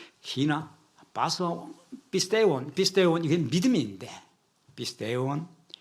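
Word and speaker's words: πιστεύων: 히나 파소 피스테온 이게 믿음인데 피스테온 어떤 사람들은 피스티우라고 발음하기도 하고 피스테오 이거는 약간 이제 코인의 헬라어 2000년 전에 쓰였던 헬라어와 지금 현대 그리스 사람들 쓰는 발음에 좀 차이가 있죠. 우리 옛날 훈민정음과 지금 우리가 쓰는 말에 차이가 있듯이 그래서 발음이 좀 차이가 있을 수 있는데 믿는 자 파소 파스테온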